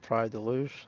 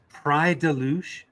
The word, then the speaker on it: Praia da Luz: It's Pride Deluge? Is that how I pronounce it?